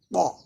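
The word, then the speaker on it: ب: This is called ba. Ba. You have to open your mouth and pronounce it.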